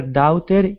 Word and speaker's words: daughter: the word daughter now instead of saying da dter with an ow sound it's only an a da daughter daughter good